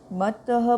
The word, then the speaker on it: मत्तः: मत्तः, इसमें दो ता है, एक तो आधा ता और एक पूरा, तो मत्तः मत्तः पुमान् पदार्थानां यथा मदन को द्रव्यहि।